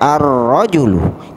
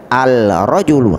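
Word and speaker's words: الرجل: pertama daripada kata rojulun Jadi bagaimana bacanya arrojulu di boleh kita baca Al rojul udah boleh itu salah besar berikutnya Dikun berarti kan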